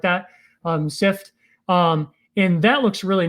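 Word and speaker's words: Cypht: do so there's one called sift i think it's spelled c y p h t or something like that um sift um and that looks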